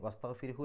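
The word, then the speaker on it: واستغفره: ഇനി അവിടെ പാരായണം നിർത്തുകയാണെങ്കിലോ, പാരായണം നിർത്തുകയാണെങ്കിൽ ആ ഹാഇന് വസ്തഗ്ഫിർഹു എന്നുള്ളതിൻ്റെ അവസാനത്തെ ഹാഇന് സുക്കൂൻ ഇട്ടിട്ട് നിർത്തുക. അപ്പോൾ വസ്തഗ്ഫിർ, ആ ഹ് എന്നുള്ളത് ചെറുതായിട്ടേ കേൾക്കുള്ളൂ, വസ്തഗ്ഫിർ എന്ന രൂപത്തിൽ.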